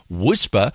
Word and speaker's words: WSPR: whisper transmitter in zl wspr pronounced whisper stands for weak signal